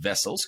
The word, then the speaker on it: Wessels: That is Wessels with a W, but it's pronounced Wessels.